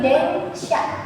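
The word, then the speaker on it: 電車: Onyominya dia itu sha ya, dan di sini dia ditemani oleh kanji deng, makanya dia dibacanya itu deng sha, yang artinya adalah kereta.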